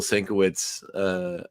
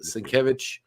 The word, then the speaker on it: Sienkiewicz: Okay, well, we get a nice little title sequence that uses the art, the Bill Sienkiewicz art Sienkiewicz.